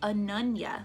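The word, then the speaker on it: Ananya: And they were like, it's Anunya, like as in Anunya business.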